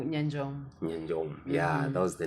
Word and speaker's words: Nyanjong: Nyanjong. Yeah, that was the name. Nimetry kuipronounce kimoyomoyo haikuji jamani.